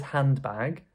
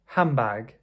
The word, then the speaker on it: handbag: No one says handbag. We usually will say hambag. Handbag. Did you hear how I pronounced it differently? So I did not say the D of hand, first of all, and also the N changed to an M for Michael, right?